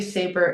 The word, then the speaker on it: Sabre: Um, on Instagram, it's actually Saber in Paris right now, but depending on when you listen to this, I might be in another part of Europe. But Saber, s a brie, spelled like the sword.